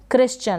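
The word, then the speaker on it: Christian: तो यहाँ पर C के बाद में H है, साइलेंट रहेगा। क्रिश्चियन, क्या पढ़ेंगे? क्रिश्चियन, CR को क्र प्रोनाउंस कर देंगे।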